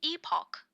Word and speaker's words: epoch: So, orbital structure complete critical now, no matter what happens, it's pronounced epoch by the way.